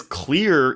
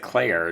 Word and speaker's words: Clear: But they pronounce it Claire, do they not? No, they pronounce it Clear. Her name is Clear Rivers.